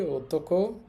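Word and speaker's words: 男: আর এই কাঞ্জিটার উচ্চারণ হবে ওতোকো, দান এবং নান।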